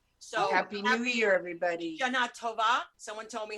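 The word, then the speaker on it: שנה טובה: Shana Tova. It's like Shana Tova. It's like the thing is, my friend Roxy told me it's on the A, so I'm just following.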